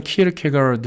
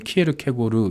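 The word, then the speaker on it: Kierkegaard: 거예요 자 키르케 가 이게 영어로는 키를 캐 갈아 더 라고 얘기하고 요 한국 후 한국어 발음으로 는 키에르케고르 이렇게 우리가 발음을 하죠 덴마크의 아주 유명한 실존주의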